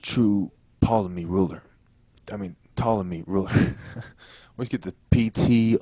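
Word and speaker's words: Ptolemy: I think to say pamy because I'm thinking about how it's spilled in my head but it's reallymy and the p is silent but anyway she goes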